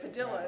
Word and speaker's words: Padilla: Yes, it's Padilla is how he pronounced.